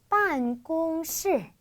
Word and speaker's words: 办公室: 사무실이라는 단어는 사무실이라고 하듯이 办公室, 사무실, 办公室 이렇게 표현해 주시면 돼요. 그렇죠? 그래서 이렇게 앞뒤로 사성 있고 중간에 일성 있으면 발음하기가 좀 힘들거든요.